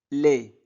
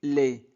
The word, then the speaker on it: lait: Du lait. La ici a I. A I se prononce et les du t ne se prononce pas. Donc du lait.